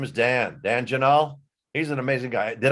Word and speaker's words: Janal: name is dan dan janel he's an amazing guy did i pronounce your uh your name last name correctly yeah janelle rhymes with canal it's a lot easier